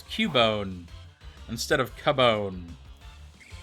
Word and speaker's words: Cubone: Everybody says Cubone because it's pronounced that way. Or it could be like Cue-Ball, right? There's that trainer class called Cue-Ball, right?